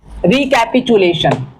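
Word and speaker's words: recapitulation: इसका actual pronunciation जो है रिकैपचुलेशन।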